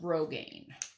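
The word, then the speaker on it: grosgrain: it's gr o s gr AI and it's pronounced Rogaine so whatever size you want honestly the easiest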